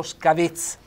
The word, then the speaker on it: scavez: Oggi mi sento ridotto male, con le ossa rotte, quindi scavez, accento tonico sulla E, scusate, accento fonico chiuso, scavez.